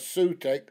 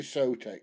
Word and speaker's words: Sotec: It's the way it's spelt, it can be spelt as or pronounced as Sutec or Sotec, but it's definitely Sotec.